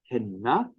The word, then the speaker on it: henna: But if we have a 2 or more syllable word, we know very well from, again, the first week of Cornish classes that the stress accent in that word is going to fall on the penultimate syllable, the 2nd syllable from the end.